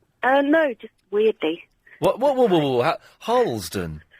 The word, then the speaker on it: Harlesden: Well, because I pronounced it correctly? No, just weirdly. What? Harlesden? Harlesden.